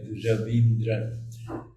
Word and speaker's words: Raveendran: Raveendran. And he pronounces Raveendra. Raveendra.